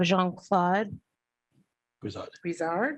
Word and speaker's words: Jean-Claude Brizard: We have Jean-Claude Brizard, yes.